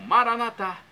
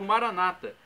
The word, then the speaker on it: Maranata: E agora do aramaico para o português eu clamo Maranatá, como dizemos nós católicos, ou Maranata, como dizem nossos irmãos separados, os evangélicos ou protestantes.